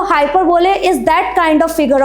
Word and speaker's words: hyperbole: So, let's begin with the today's first figure of speech that is हाउ you will pronounce it? हाइपरबोले?